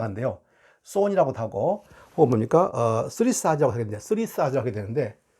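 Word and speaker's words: Thurisaz: 쓰리사즈라고 하게 되는데, 쓰리사즈라고 하게 되는데, 이 son이에요.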